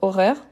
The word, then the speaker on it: horaire: Donc, horaire, ça on utilise beaucoup, hein? Donc c'est l'horaire, donc c'est un H muet.